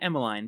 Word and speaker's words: Emmeline: It's actually Emmeline, but don't worry, that's Emmeline. the real pronunciation.